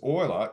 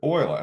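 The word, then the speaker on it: Euler: oil's number and the reason why is because Oiler is the last name of this Swift swift Swiss mathematician and scientist Leonard Oiler and that's how you pronounce his last name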